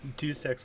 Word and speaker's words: Deus Ex: We have Arshfots 19 on Rhaegar, Monty on Arthas, Gilsimbut on Leoric, and Deus X on Greymane. Deus Ex was the correct pronunciation.